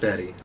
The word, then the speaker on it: Bat-E: I meant Batty, but anyway. Yeah. All right. E. Bat-E. Bat-E. That's how we'll spell it. B-A-T-E. All right. Like Wall-E, Bat-E.